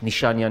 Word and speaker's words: Nişanyan: My guest today at CivilNet is Sevan Nshanyan, Nişanyan, am I saying it correctly?